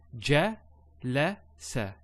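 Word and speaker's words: جلس: So ja, la, sa.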